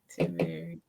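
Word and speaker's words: Timehri: Timari.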